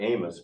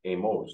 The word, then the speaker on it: AMOS: I understand it now you pronounce it not Amos but Amos is that right okay but we'll try